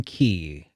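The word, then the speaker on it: chi: that like Union Union key cuz the the cross is actually it's pronounced key because it's oh okay it's the the uh the Greek alphabet yeah yeah it's oh Kai well Kai but they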